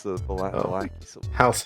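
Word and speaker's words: Vallaki: Yeah, in this timeline they pronounced it correctly. It's the Valaki Civil War.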